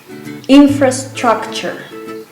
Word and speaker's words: infrastructure: So the T-U-R-E at the end of the word is pronounced ch, chur, all right? Like a chur, like in cheese.